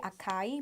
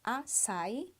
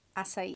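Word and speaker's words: açaí: It sounds like I say acai, but the pronunciation is acai, or in Portuguese, acai.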